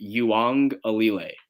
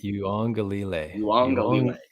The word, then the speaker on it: Uiagalelei: Okay, so let's learn his last name together, guys. It's DJ Uiagalelei. All right? Uiagalelei.